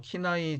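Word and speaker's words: 畿内: 300년경 기내 일본어 발음으로 키나이 지역의 거대한 무덤이 발견이 됩니다.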